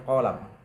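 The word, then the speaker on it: قلم: Wala'allal murada, dan mungkin yang dimaksud biha dengan sirrus sir itu al-qalabu, adalah qalam bil alifi, dengan alif ba'dal qafi, setelah qaf jadi panjang. Wa bi fathil lam, dan dengan fathahnya lam dibacanya qalam.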